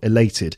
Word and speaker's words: elated: adjective elated elated elated second syllable three syllables and it's the second syllable elated meaning uh you know